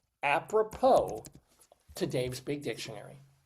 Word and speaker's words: apropos: So Dave's big dictionary it is and the word is apppropo. A p r o p o s. There's a silent s on the end of that there.